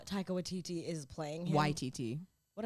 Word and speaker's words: Waititi: And I want to pronounce it right. Yes, that's right. Speaking of him, Taika Waititi, he pisses me off.